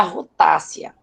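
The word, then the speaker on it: Rutaceae: Pertence à família Rutácea. É Rutácea que se pronuncia, tá?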